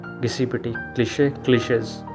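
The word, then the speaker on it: cliché: बोलते हैं लेकिन एक्स स्पेलिंग में लिखते हैं क्लिश क्लिश यानी कि कोई चीज जो बहुत ओवर यूज्ड हो चुकी है गिसी पिटी क्लिश क्लिश डिजावू डिजावू वो फीलिंग होती है जो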